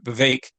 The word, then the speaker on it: Vivek: I think that VEC Vivek so it's pronounced apparently that rhymes with cake is how I yes